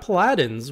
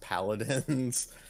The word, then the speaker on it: Paladins: We got Paladins, which is interesting. I think that's is that a MOBA? It's actually pronounced Paladins.